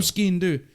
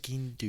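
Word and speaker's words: sgian dubh: gave me a real knife surprisingly a real SK do that's what it's called that's how you pronounce it SK do it's not spelled like that um okay it's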